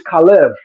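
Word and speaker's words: חֵלֶב: Because in Hebrew, fat is kalev and milk is kalav. Only difference is vowel shifting and pronunciation.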